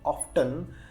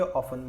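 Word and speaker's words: often: मतलब many times, ही ऑफन, यहाँ पे जो टी है ये साइलेंट है। अगर आप अमेरिकन प्रोनाउंसिएशन बोलोगे तो इसे पढ़ेंगे ऑफ्टन, अगर ब्रिटिश प्रोनाउंसिएशन की बात करोगे तो इसे पढ़ेंगे ऑफन। ब्रिटिश में टी साइलेंट है।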